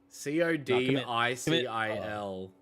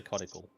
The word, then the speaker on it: codicil: Spell it. CODICIL. Cockadil? COD. Yeah, ICIL. ICI. Codicil? Codicil. Codicil? Yeah, Codicil? Codicil? I would say codical.